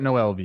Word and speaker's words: Noelvi: Noelvi? Yeah, just straight up Noelvi.